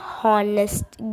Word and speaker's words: honest: Here the first letter H pronounced like a vowel. So, Anne will come. An honest girl.